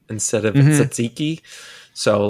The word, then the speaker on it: tzatziki: Well, he does a lot of rage bait with the way he pronounces things, like Tzaikai instead of tzatziki.